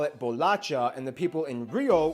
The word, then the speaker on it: bolacha: thing people in sao paulo will call it bolacha and the people in rio will call it